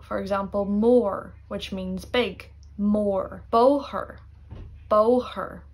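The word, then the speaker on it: mór: But if the O had a fada in a word, then you pronounce it like O. For example, more, which means big.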